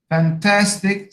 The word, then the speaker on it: fantastic: stupidity, stupid, second syllable, fantastic, second syllable, manly, first syllable.